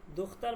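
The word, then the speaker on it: دختر: উচ্চারণ হবে না এখানে ওকে আর মেয়ে এটার উচ্চারণ কি হবে দুখতা দুখতার কেউ কি আসছে নাকি দুখতার দেখেন দুখতা দেখাচ্ছি আমি এটা হবে দখ তার দখতার মানে মেয়ে।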